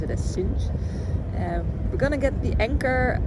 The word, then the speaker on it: Sines: I learned that you pronounce it as Sines.